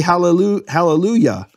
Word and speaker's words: Hallelujah: different pronunciation and so the yah of halleluyah is different than the yah in Yahweh in fact in English